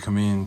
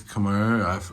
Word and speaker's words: Khmer: They pronounce it in Thai, they pronounce it Khmer. To be honest, I'm not sure how they even pronounce it in English, but I think it's Khmer.